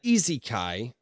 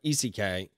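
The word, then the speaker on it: isekai: he was okay uh Isa K is pronounced uh easy Kai or eckai meaning Journey or two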